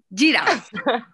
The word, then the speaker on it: Guirao: Giuseppe. Sí. Es como que luego se escribe con una U, entonces uno mejor pregunta.